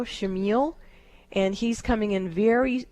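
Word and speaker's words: Chamuel: His name is Shamiel. It's spelled C-H-A-M-E-U-L or U-E-L, Shamiel, and he's coming in very strong and gentle for your daughter.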